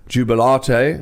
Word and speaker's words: Jubilate: Duncan earlier on today Jubilate is how you pronounce it as are they after the Catholic something to do with the Catholic faith Jubilate and he said